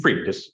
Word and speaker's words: Fried: is the fact that, is his name, last name pronounced Fried? How do you pronounce his last name? Freed. Freed, okay. Correct, yes.